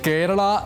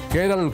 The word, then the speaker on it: കേരളം: കാര്യവും ഈ വാർത്തയോടൊപ്പം ഓർക്കുക കേരളം കേരളം കേരളം എന്നുള്ള നിലയക്ക് ഇനി കേരളം മാറാൻ പോകുന്നു കേരള കേരള കേരള എന്ന് പറയുന്നതും കേരൾ കേരൾ കേരൾ എന്ന് പറയുന്നതും ഒക്കെ മാറ്റിനിർത്തിയിട്ട് അം എന്നുള്ള ഉച്ചാരണം വരുന്ന രീതിയിൽ കേരളം എന്ന് കേരളത്തിൻറെ പേരിനെ വിപുലീകരിക്കാനും